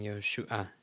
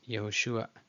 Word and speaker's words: Yehoshua: but as we learned, this is a stolen patach, meaning the vowel sound is before the consonant. So now it is Yehoshua, Yehoshua, the ayin at the very end, but everybody pronounces it just Yehoshua, Yehoshua.